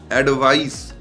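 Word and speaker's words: advice: देखिए दोनों का प्रोनाउंसिएशन थोड़ा सा डिफरेंट है। पहले नंबर 1 पे है एडवाइस, एडवाइस, और नंबर 2 पे है एडवाइज। एक Z का हल्का साउंड आ रहा है।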